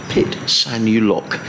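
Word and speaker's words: Phitsanulok: of the city and it's pronounced pit sanya you lock pit sanu lock in thailand and he says i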